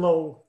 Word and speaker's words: Lowe: department chair is kevin lowe and so he pronounces his name low but um as someone who lived in germany for many years i know it's a german name love which means line right so uh so